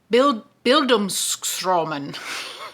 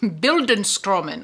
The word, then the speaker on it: Bildungsroman: And I found that some people see this is I'm not going to be able to pronounce this. Bildungsroman. Bildungsroman, okay?